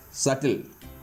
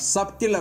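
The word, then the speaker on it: subtle: பாருங்க டவுட் டெப்ட் டெப்ட் சட்டில் அந்த மாதிரி டவுட் டப்ட் அப்படின்னு நாம சொல்ல மாட்டோம் டெப்ட் அப்படின்னு சொல்ல மாட்டோம் சப்ட்டில் அப்படின்னு நம்ம சொல்ல மாட்டோம் ஏன்னா இந்த இடத்துல டி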